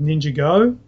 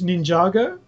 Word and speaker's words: Ninjago: know probably could uh last week we talked about the pronunciation and I went with ninjo uh we Shan you agreed with me and we should have went with red yeah red you correct it is Ninjago now the the explanation